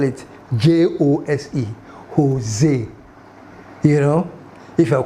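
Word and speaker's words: José: So if you call when you see Jose, you think it's spelled H O S E, but the Spanish, they spell it J O S E.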